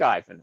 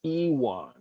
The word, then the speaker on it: Iwan: But I'll do the ad anyway because I like Ivan. Okay, even though we say his name wrong all the time, it's Iwan. It's spelled like I-won, but Iwan.